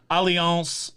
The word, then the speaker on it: Allianz: But go to some of the companies like Nationwide, Allianz, which is spelled Alliance with a Z, 10 Leg.